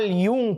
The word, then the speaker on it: Jung: Hebrew में जैसे Jews की भाषा में अपन जे को ये पढ़ते हैं, जैसे कार्ल यूंग पढ़ते हैं, JUNG स्पेलिंग है, यूंग पढ़ते हैं उसको, वो ज्यू थे।